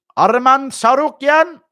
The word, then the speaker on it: Arman Tsarukyan: You actually pronounced Arman's name correctly. Nice job. It's not difficult, man. Arman Tsarukyan.